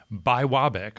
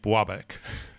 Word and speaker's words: Biwabik: understand is actually pronounced by wabik although when people start saying it quickly it starts to sound a lot more like babic yeah I feel like